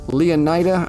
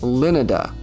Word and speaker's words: Leonida: in the state of Leonida, I think is how they pronounce it, although I would argue it should be pronounced Linada, like Florida.